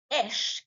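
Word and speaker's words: אש: Donc, les lettres Shin et Aleph se prononcent Esh, qui signifie feu, qui représente la présence divine, la purification et le jugement.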